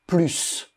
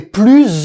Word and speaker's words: plus: plus envie de manger on ne prononce également pas le S quand il modifie un adjectif ou un adverbe plus plus adjectif Karine